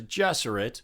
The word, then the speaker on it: Gesserit: the benny gesserate order i pronounce it guesser it the movie says jesserit there's a nun-like order